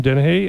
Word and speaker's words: Danehy: In studio today, I have Tom Danehy.